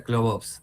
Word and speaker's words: Clobos: ¿Se pronuncia, está bien, Clobos? ¿O Clobs? ¿Cómo se dice? En realidad se pronuncia Club Ops, Club Ops, ahí está.